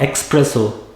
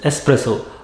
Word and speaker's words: espresso: It is not espresso. It is espresso.